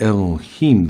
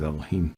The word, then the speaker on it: Elohim: do a bible word study on the word elohim the lemma not god okay i'm not selecting